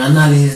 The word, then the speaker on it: análisis: En análisis, ¿dónde lleva tilde? En na. ¿Cómo sería? Análisis. ¿Por qué? Porque lleva mayor fuerza de voz en na.